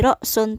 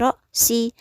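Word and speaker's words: رأسِ: nya ala Rock si nah dia dibacanya jadi sih bukan lagi Rock sound tapi Roxy Kenapa karena terkena dampak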